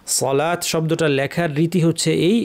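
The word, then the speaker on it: صلاة: আলিফ আছে লামকে টানতে হবে এই ওয়াও কিন্তু উচ্চারণ হবে না। সলাত শব্দটা লেখার রীতি হচ্ছে এই।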